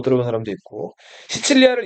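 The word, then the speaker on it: Sicily: 시칠리아를 영어로 읽으면 시실리라고 읽어요.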